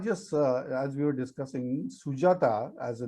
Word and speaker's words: Sujata: I know there is a coffee cream company which name is Sujata, and that's why even kids in Japan knows my name very well. So it has same pronunciations, and nobody will mistake while pronouncing it.